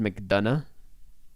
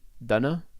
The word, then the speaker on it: McDonagh: It's pronounced McDonagh. But did I not say that? Did I say Donna? Donna?